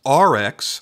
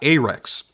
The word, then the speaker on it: Arex: now for those unaware it is pronounced RX like the letters RX not a Rex I say this because